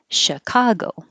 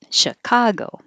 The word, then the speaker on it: Chicago: either way principle principle and this ch is a sh sound chicago chicago pressure with a pressure